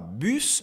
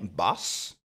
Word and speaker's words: bus: Et ensuite on dit pas bus mais bass et car.